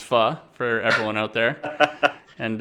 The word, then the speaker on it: Pho: flight over there and go get me some Pho it's not it's not pronounced it's fun for everyone out there and uh we'll get